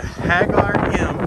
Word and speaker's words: Ħaġar Qim: temples i'm going to hag our gym they don't pronounce the queue and it's 100 meters